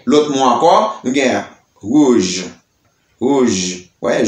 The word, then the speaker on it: rouge: Et nous gagnons l'autre mot encore, nous gagnons rouge, rouge, ouais, j, rouge.